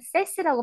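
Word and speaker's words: sash: 창틀인 데까지 창틀인 데까지 우리가 샤시라고 하는 세시라고 발음합니다. 세시.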